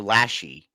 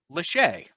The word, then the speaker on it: Lachey: How do you pronounce it? Vanessa Lachey or Lashy? Lachey, Oh, Lachey.